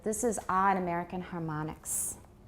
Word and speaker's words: harmonics: consonant on each side, how do we usually pronounce that in American English? We pronounce it like ah.